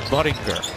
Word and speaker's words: Budinger: And it's not how you pronounce his last name, it's Budinger.